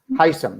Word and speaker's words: Hisham: Hisham, that's how I pronounce the name? Yeah, Hisham, that's right.